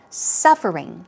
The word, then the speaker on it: suffering: Stress goes right there on the first syllable. Suffering. So we're talking about hardships, basically.